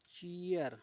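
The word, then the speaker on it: cheer: सी H double E आर चीयर हम यहां ची नहीं इसको पढ़ेंगे। ची पढ़ेंगे क्योंकि आर आया है और आर जब भी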